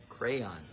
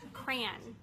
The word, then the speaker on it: crayon: this is a crayon crayon two syllables this is an orange cran cran is how you say it this is an orange